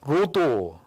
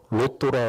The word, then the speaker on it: 로도: 항구로 가서 로도, 발음을 잘해야 돼요. 로또라 그러면 여기에 섬이 로또로 유명한 섬이야. 그거 아닙니다. 로또라고 하는 섬입니다. 섬. 로도라고 하는 섬인데 로도에 이르러 거기서부터 바다라로 가서, 이 바다라는 항구 도시입니다.